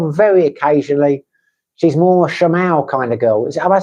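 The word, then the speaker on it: siomai: She's more a shamal kind of girl. Have I said that right? What? How do you say it? Shamai.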